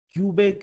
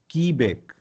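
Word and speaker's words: Quebec: then most important Q इसको कुछ लोग प्रोनंसिएशन क्यूबेक क्यूबेक नहीं की बेक व्ट could be the exact pronunciation की बैक and then as इट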